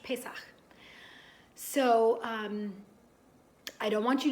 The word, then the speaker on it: Pesach: Hebrew that we call Pesach. It's got that sound at the end, ch, that you have all practiced so much, Pesach.